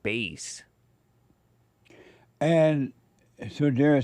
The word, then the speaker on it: Bass: Black Gun Silver Star explicitly clarify his name is pronounced like Bass and so Dar said white people could be wrong too.